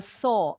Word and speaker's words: saw: A saw, W-nya nggak bunyi.